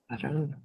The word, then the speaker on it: reprobaron: Reprobaron. Wait, say it again. Me reprobaron, chale, Me otra vez reprobaron. yeah. So the accent on the back. Me Mhm. reprobaron. Okay. No, actually it's reprobaron.